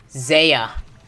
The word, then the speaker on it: Zaya: It's Isaiah without an I and with a Z. Zaya.